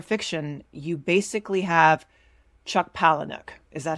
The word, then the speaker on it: Palahniuk: For men, if you're not super into genre fiction, you basically have Chuck Palahniuk. Is that how you pronounce it? I need to Google how to pronounce his name. It's pronounced Palahniuk.